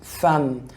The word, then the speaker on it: femme: une femme، une دي الفيمينا، الفام e m بتنطق اكنها حرف الاي، فبقول ايه؟ femme.